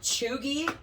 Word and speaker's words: cheugy: So it's spelled, just because it took me a long time to figure out how to actually say this word, but it's spelled Cheugy.